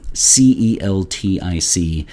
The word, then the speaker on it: Celtic: least in the states we make a distinction between the pronunciation for c-e-l-t-i-c if it refers to the celts the celt the celtic people right and their art and their literature and their religion then we say celtic so if you notice